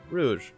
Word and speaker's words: Rouge: doing it no Rogue why is her name Rogue I thought it was uh Rouge yeah okay that's how